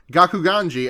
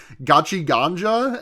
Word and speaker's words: Gakuganji: I got his name wrong, and I said it the most times I've ever said it in an episode, because I kept calling him Gachi Ganja, and I don't know